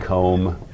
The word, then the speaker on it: comb: And and as you know, there's all sorts of Welsh words like lamb and comb. And comb. Do we say the B? Right. Yeah. So this is like the silent B, right?